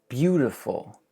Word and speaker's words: beautiful: Beautiful. E-A-U just becomes U.